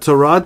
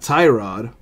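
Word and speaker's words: Tyrod: time so he got to Rod Taylor apparently the correct way to pronounce his name is to Rod not tie rod you know you can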